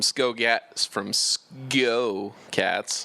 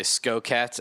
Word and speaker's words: SGO Cats: A lot of people say Sco Cats, SKO Cats, because when you're saying let's go real fast, it's Sco. But this is SGO Cats.